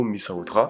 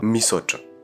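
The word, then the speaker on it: misaotra: Les gens vont prononcer ce mot mi-sa-otra, mais au fond, ça se prononce pas comme ça. Ce mot qui veut dire merci se prononcera mi-soch ou mi-soch.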